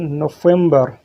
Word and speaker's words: نوفمبر: In Arabic, we pronounce it نوفمبر.